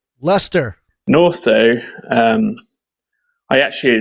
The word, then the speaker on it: Leicester: name of my town wrong completely it's uh pronounced Leicester Leicester North so um I actually live about five